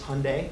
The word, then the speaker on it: Hyundai: company's name correctly it's it's Hyundai it rhymes with Sunday um and it's amazing how many times that's mispronounced um we go by Hyundai it rhymes with Sunday